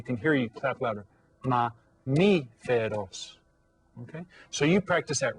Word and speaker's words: mamífero: So try the word mamífero. Okay? Mamífero. How many syllables? Mamífero. Has 4 syllables.